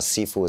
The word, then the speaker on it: Sifu: in heißt es lehrvater es gibt auch die Aussprache Schiffe Kanton Chinesisch Mandarin Chinesisch aber Sifu sagt sagt man das halt am Kanton chinesischen es ist lustig ich